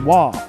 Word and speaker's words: は: a character for hall it is but it's pronounced wha in the situation that's why konichiwa is spelled